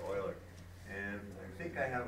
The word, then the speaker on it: Euler: It's called Euler's number, or Euler, depending on how you want to pronounce it. But generally, I pronounce it Euler.